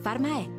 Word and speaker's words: Pharmaè: Pharmaè, l'accento è su di te.